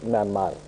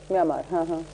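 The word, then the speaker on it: म्यांमार: मन होते हैं जैसे आपके बगल का पड़ोसी राज्य है म्यानमार म्यानमार नहीं है ममा म्यामार ममा उसके बाद र म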